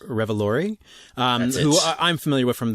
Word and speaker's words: Revolori: Tony Revolori, I believe it's pronounced Revolori, who I'm familiar with from the Spider-Man movies where he plays Flash.